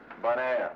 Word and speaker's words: Bonaire: How do you say the name of the town again? Bonaire. You know, bon, good, air, Bonaire.